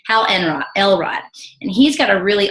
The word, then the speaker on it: Hal Elrod: Hal Elrod.